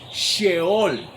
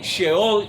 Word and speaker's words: Sheol: Por ejemplo, en el hebreo es la palabra Sheol, con SH, Sheol, que se traduce a la Reina Valera como Seol, porque como la Reina